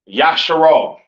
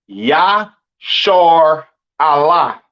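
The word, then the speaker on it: ישראל: And Israel is not pronounced Yasharal. It's not pronounced Yisrael in the Hebrew. That is not how you pronounce Israel. Israel is pronounced Yashar Allah.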